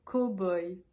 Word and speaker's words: cow-boy: ou une vraie ce mot on va le prononcer cowboy un cow-boy co boy way possible ce mot